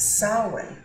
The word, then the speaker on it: Samhain: Harvest was October 31st what they called that day was sin it's spelled very differently to how it said but it is sin and what that means